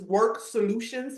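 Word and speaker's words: Worxk Solutions: We pronounce our business Work Solutions, but it's WORXK, right?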